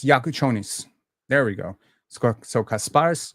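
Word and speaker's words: Jakučionis: So it's Yakuchonis. There we go. So Kasparis Yakuchonis. You would think I'd be better with these pronunciations, but Lithuanian names have given me trouble for quite some times.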